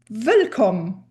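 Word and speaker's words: Wëllkomm: The first difference between the Luxembourgish and English pronunciation is this fact that the W's need to be pronounced like the English V. It's a hard V sound.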